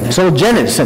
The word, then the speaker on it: Solzhenitsyn: for me, and I'm still not going to pronounce his name well. Solzhenitsyn, is that right?